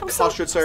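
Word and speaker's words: Köstritzer: So this is made out of Kostritzer. I'm so proud you pronounced that correctly.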